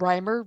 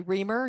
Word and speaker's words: Reimer: business which is called Rhymer reason Communications a play on my last name only if you pronounce it right if you're a telemarketer and you say reamer you don't get the joke so the tagline for